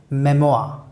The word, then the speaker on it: memoir: So, mind it, the pronunciation of folk is folk, and the pronunciation of memoir is memoir.